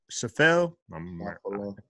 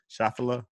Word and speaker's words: Schauffele: I can't even pronounce it. I'm a murderer. Schauffele? Schauffele?